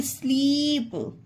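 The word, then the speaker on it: sleep: ई आया है ना जिस भी वर्ड में डबल ई है तो उसका ई दीर्घ उच्चारण होगा एस L double E पी स्लीप we double E आर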